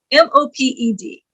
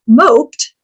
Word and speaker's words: moped: Here's a fun one, M-O-P-E-D. Pronounced moped, it means to be depressed. But pronounced moped, it is a motorized bike.